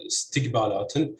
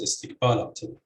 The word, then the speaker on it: istiqbalatin: An example of this is the word that you can see here, istiqbalatin, which can also be stressed as istiqbalatin with stress on the second or the third syllables.